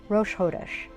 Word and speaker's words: Rosh Chodesh: So my best tip for you is just imagine that it's an H, Rosh Hodesh.